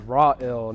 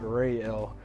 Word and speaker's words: Rael: name to people and she'll say it's raw ill not real and so we were